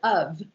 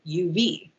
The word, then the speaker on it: of: this is the word of um if we think about the word of in english it's spelled o f but it sounds like it should be spelled uv doesn't make any sense